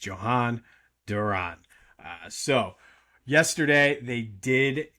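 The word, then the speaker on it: Jhoan Duran: picked up Johan Duran, which I believe is the correct pronunciation. You're probably going to hear all kinds of different pronunciations of it, but from what I'm gathering, it's Johan Duran.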